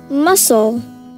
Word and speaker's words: muscle: So, silent letters would be C and E.